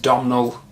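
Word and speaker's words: Domhnall: character uh played by i think his first name is pronounced domino uh gleason brendan gleason's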